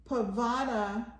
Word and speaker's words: Pavana: So Pavana rhymes with Madonna.